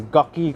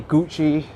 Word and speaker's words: Gucci: can't get around and i can't pronounce gucky correctly it needs to be gucci i think english is